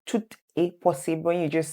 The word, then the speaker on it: tout est: So there's a liaison between both of them, okay?